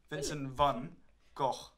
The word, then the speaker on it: Vincent van Gogh: his name you know the Dutch way of saying Vinson and Van you meant to say like fun Vincent van Gogh because apparently British tourists